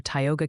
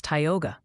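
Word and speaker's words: Tioga: Also, the Pennians are staging a minor revolt over Tyogga County. Apparently, it's Tyogga. Just FYI, before they send carrier pigeons with pronunciation guides attached. It's not Tyogga, it's Tyogga. Didn't I say Tyogga?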